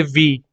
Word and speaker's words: Vi: इसको प्रोनाउंस करेंगे वी, यानी अब वोडाफोन आइडिया नहीं वी बोला जाएगा इनको।